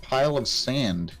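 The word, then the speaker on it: Palossand: Moving on to the Lunar Mountain Lichen Rocks, going in with a pile of sand. Is that how you pronounce it?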